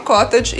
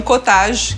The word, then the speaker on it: cottage: acelerar que o processo a palavra cota de quer dizer chalé inglês esse queijo também é de origem inglesa então por isso que eu falo cota de não cottage que seria pronúncia francesa vou pegar aqui sal